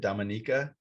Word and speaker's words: Dominica: people in the whole country that's how you pronounce it dominica yeah so there's the confusion is always there's there's the dominican republic right and then there's dominica yeah and